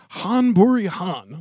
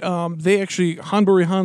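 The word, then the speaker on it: Ghân-buri-Ghân: Han Buri Han, which is spelled with a G, apparently. G-H-A-N. Buri, G-H-A-N. Yeah, it's Han Buri Han.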